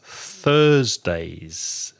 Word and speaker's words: Thursday: choo Tuesday Tuesday and put your tongue between your teeth for Thursday and whoever's Thursday Tuesday